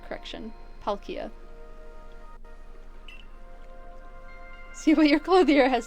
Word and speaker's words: Palkia: Thank you, Z, for the pronunciation correction. Palkia.